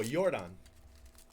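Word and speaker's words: Yordan: did it uh oh yordon you know jordan americanized his name so you know people pronounce the the y like an english name yuri bell angeles let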